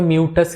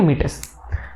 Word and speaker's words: meatus: बहुत से बच्चे इसको म्यूटस कहते हैं, कोई मीटस कहता है, ठीक है। जो बोलना है वो बोलो, बस स्पेलिंग ध्यान रखना, MEATUS, ठीक है, मीटस।